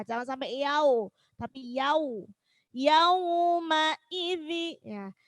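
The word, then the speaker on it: يومئذ: Yauma idzi, ya. Yauma i, jelaskan i-nya, jangan salah yaumai. Ya. Kadang kita bacanya seperti itu. Jadi i-nya itu tidak jelas. Yaumai. Nah, jangan sampai yaumai.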